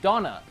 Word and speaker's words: Dana: this other character named Donna I know it spelled Dana but I'm pretty sure it's pronounced donor I think I'm getting